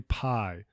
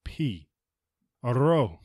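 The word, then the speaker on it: πι: version of this one we always say Pi but the correct pronunciation is p a it is often difficult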